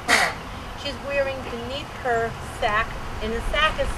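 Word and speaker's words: sacque: This is known as a state of undress called a sack and a petticoat.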